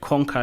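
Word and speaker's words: konka: So the first word conquer is spelled K-O-N-K-A, and it's Bemba, a language from Zambia, and it means to follow.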